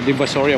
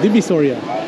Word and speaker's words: Divisoria: Oh, Divisoria. I've been saying it wrong. Wow, Divisoria. So, look at this, guys.